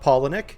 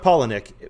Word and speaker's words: Palahniuk: of tea at all most people don't even know how to pronounce his last name but chuck paulinek that's how you pronounce the last name chuck pollinick he's best known as